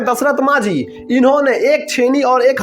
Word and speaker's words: दशरथ मांझी: बस कारण होना चाहिए इसका शुद्ध उच्चारण है दशरथ मांझी इन्होंने एक छेनी और